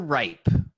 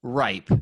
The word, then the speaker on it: Ripe: Mr. Ripe, pronounced ripe. Hey. No, Rip E.